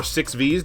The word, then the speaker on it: VVVVVV: expensive physical game for the PS Vita called VVVVVV, or 6Vs, depending on how you want to pronounce it.